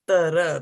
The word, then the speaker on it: dhārtara: It's not tra, it is tara, like that, So breaking it down.